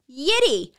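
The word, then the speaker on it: Yitty: a podcast called yiddi it is spelled the exact same way y-i-t-t-y it is all caps y-i-t-t-y and it's pronounced the same yeti i don't know why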